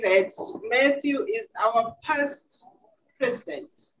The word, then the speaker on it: Matthew: Max just match because sometimes when people say my name I can actually hear them say the single T in my name and my name has Double T so when I when